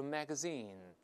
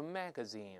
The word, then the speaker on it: magazine: 说、啊、当然这个 magazine 我用的是美式的发音，英联邦国家一般都是 magazine，但美音中重音在前面都是 magazine，这个都可以，那、啊